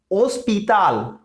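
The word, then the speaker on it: hospital: और अगर यहां पे भी सेम है, एच साइलेंट, ओस्पिताल, ओस्पिताल, ओस्पिताल।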